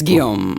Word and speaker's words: Guillaume: You can pronounce that all kinds of fun ways. Guillaume. It's Guillaume. Yes, it's Guillaume.